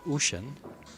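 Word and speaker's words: Ouschan: Tim is very particular about his names because the Europeans will pronounce them a little bit different. For instance, it's Ocean and Deutscher.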